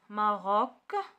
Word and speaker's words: Maroc: Maroc ك. Maroc. donc هنا كتقرا ك.